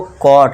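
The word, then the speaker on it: caught: कॉट। अब जो इसमें जी एच है दोस्तों ये साइलेंट रहेगा। ये ध्यान देना है। ठीक है दोस्तों? तो बस सी ए यू टी का साउंड आपको देना है।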